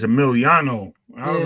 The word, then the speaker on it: Emiliano: gotta say his name right. It's Emiliano. I was Yeah, like, yo, I'm typing Emilio.